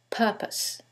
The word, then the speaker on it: purpose: syllable that's stressed, and in the second one, it's the first syllable, and that changes the pronunciation completely. The first word is propose, and the second word is purpose.